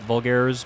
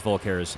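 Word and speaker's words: Vulkar: the black vulcar vcar vulgares it's not vulgar it's vulcar I remember how to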